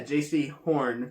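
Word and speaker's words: Jaycee Horn: Wait, is that how you pronounce his name? Yeah, J.C. Horn, cornerback from South Carolina.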